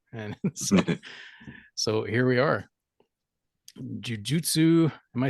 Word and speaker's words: jujutsu: But yeah, you say it right, Jujutsu Kaisen.